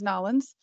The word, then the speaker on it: New Orleans: And if you have ever been down to New Orleans, or actually the proper way to say it, if you're from there, is Nolens, you would be probably familiar with a beignet, which is traditionally really a fried dough.